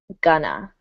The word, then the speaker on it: going to: And when we refer to the future this way, we pronounce it gonna. Gonna.